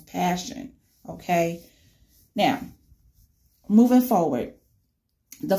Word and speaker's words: Pashun: name her name is passion and not for Sean Arthur Hondas for Sean Jeffrey but no it's pronounced as passion okay now moving forward